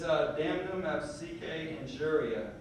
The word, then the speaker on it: damnum absque injuria: I think it's I'm looking in my book because I have it written phonetically so that I can actually say it. It's damnum absque injuria, and that's injury without recovery.